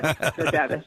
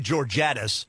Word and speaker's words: Georgatos: Georgatos is right, and you're in a small league. You can pronounce it correctly. Yes, Georgatos. Fair enough. Let me try that again. Georgatos is with us from from America Can We Talk.